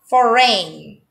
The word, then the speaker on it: foreign: design design foreign foreign in this word the letter g is also not pronounced it will be foreign not foreign it's incorrect the correct pronunciation of the word foreign is for rain foreign hi hi in